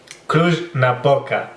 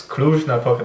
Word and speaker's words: Cluj-Napoca: Cluj-Napoca, we call it. So it's Cluj-Napoca, that J is not the Y like the Germans do it, or it's really a J, Cluj-Napoca.